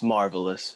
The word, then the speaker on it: MarvEllis: It's MarvEllis, because like my last MarvEllis. name's Ellis, so like I wanted to incorporate like my name in my rap name, so it's like Marv Ellis, like MarvEllis.